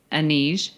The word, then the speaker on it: Anij: Well, one thing Insurrection did bring us was the beautiful Donna Murphy, who plays Anij.